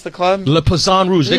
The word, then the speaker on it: Le Poisson Rouge: do you pronounce the club? Le Poisson Rouge.